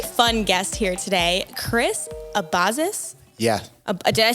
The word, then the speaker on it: Abazis: a a very fun guest here today Chris abazis yeah did I say it right I nailed